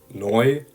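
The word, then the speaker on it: neu: an oi for example if you have a word noi which means new it's going to be pronounced like Choice oi oi that is the same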